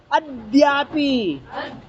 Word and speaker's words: अद्यापि: ए तो देखो ये क्या है, ये देखो सुनो, इसको दुत्त बनाना है, इस दा को दो बार पढ़ना, अद्यापि है ना, इसको दा पे वजन दो, अद्यापि यस्याजित शासनस्य सतां प्रणेतुः प्रतिमंगलार्थम प्रगृह्यते ना।